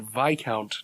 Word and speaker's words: Viscount: saw that yeah so apparently Viscount Terry is not Viscount Terry but VI count Terry that's yes I mean you don't put an S in a word it's a French word and then be like no don't say the S it yeah you do